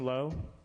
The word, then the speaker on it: Low: low well sorry no I said low is that how you pronounced your last name low yeah short and sweet okay thank you go